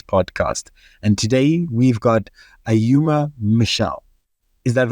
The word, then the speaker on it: Ayuma: And today we've got Ayuma Michelle.